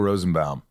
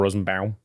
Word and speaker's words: Rosenbaum: It's Michael Rosenbaum. How's that? Michael Rosenbaum.